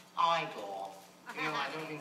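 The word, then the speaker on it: Igor: is in black and white e now it's pronounced iore you know I don't mean to embarrass you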